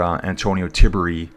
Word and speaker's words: Antonio Tiberi: I had this guy here, Antonio Tiberi is how you say it, finishing a lot higher.